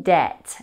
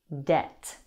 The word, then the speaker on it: debt: Debt has a silent B.